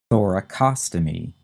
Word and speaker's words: thoracostomy: that first of all we have the term thoracostomy t-h-o-r-a-c-o-s-t-o-m-y thoracostomy and that would be an incision